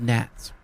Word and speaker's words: gnats: It was called because of gnats. Gnats. It's funny, I was going to say bats, but which rhymes with gnats.